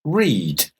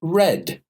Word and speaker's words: read: So in the present, read. I read a book every day. I read the newspaper in the morning. But in the past, read, the pronunciation changes to read.